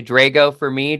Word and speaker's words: Drago: the time uh I'm the Italian version so the pronunciation is actually Drago for me Drago for for Russian